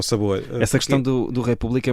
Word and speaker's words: República: o acento na República, quando a sílaba tónica não é o ré, é o pu, não é? República.